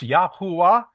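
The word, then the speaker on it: Yahweh: And in the ancient Hebrew, his name is pronounced Yahwa.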